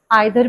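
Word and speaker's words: either: अब ईदर को हम ईदर भी बोलते हैं, आइदर भी बोलते हैं। Both द pronunciations are correct. एक यूके की होती है और एक यूएस की होती है।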